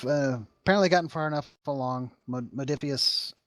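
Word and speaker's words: Modiphius: Modifius, I think is how you pronounce it, Entertainment, who has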